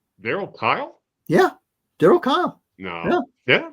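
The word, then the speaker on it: Kile: can tell you that his last name rhymes with file verl Kyle yeah darl Kyle no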